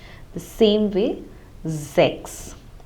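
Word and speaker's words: sechs: So whenever the letter S occurs at the beginning of a German word, like also in Z, S-I-E, it is in the beginning, hence it takes the pronunciation of Z. So the same way it would be Zex, and in a similar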